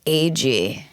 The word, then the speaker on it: Agee: did it and he he's reading it and he's like Ag and like all my friends were laughing. They're like that guy butchered your name. I'm like, "Actually, that's the right way to say it."